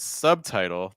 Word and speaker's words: subtitle: talked about subtle question so in subtle there's no B but in the word subtitle there is a slight B sound sub subtitle subtitle yes so it's subtitle keep the be great question manual I'm